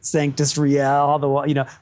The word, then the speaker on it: Sanctus Real: So what we really ended up with, funny enough, was a Latin word pronounced just like white American kids would say it. And then an English word that could be Latin. So you get Sanctus Real, Sanctus Real, Sanctus Real.